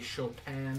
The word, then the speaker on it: Chopin: Or should I say Chopin is how his name's pronounced, I believe.